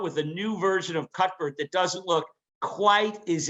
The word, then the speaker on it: Cuthbert: you call it cutport cutbert yeah cut yeah so you don't pronounce the th you pronounce it so yeah i think